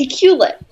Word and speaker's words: Iqaluit: No, it's Iqaluit. But that's not how it's spelled written on paper.